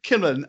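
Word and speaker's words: Kimmalyn: Like emphasis on the first syllable. Okay. So Kimmallen and Spencer were on the ground, not in the battle.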